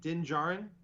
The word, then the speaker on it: Din Djarin: dindajar or ginger okay i pronounced the din dejarin is it din jaron yes and yes i i'm you know right because there's a d in front of the jar you're supposed to do